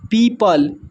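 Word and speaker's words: people: यहां पर लिखा हुआ है पीपल। पीपल में जो है ओ साइलेंट है। यहां पर लिखा हुआ है थंब।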